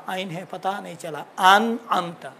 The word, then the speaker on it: أنعمت: انعمت پہلا والا الف ہے، بات والا عین ہے، لیکن تلفظ بہت اچھا ہے.